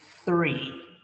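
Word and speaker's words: three: The numbers are 1, 2, 3, and attention here with the th, 3.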